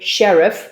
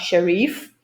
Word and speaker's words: sheriff: And the same with sheriff, it's sheriff, not sharif. This is a problem that many students have between the short and long E sounds.